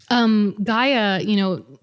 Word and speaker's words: Gaea: So for Thor, Gaia, it's spelled Gaea, which is also a derivative of Gaia, as in like Mother Earth, Gaia.